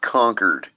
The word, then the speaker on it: Concord: are vsh Le Brusco it's pronounced conquered Concord yeah concord grapes